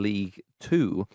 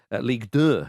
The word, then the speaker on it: Ligue 2: But Amiens are currently 10th in League 2. Ligue 2, should I say, as we all say Ligue 1, so keep it French.